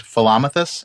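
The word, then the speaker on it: Philomythus: but I'm going to pronounce these Philomathus and Misamathus, because that's Okay. how I know to pronounce those.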